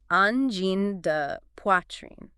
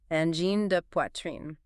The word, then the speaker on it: Angine de Poitrine: N Gène de Quartier. N Gène de Quartier.